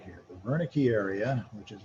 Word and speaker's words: Wernicke: So the Wernicke area, even though it's pronounced with a V sound, starts with a W, that's what are you saying? So here I'm babbling, I'm speaking, baby babbles. Here, Wernicke, what are you saying?